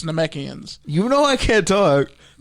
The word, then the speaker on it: Namekians: It's Namekians.